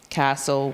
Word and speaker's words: castle: And then we go into STLE, thistle, castle, whistle. We know that it says soul, and then that T is silent.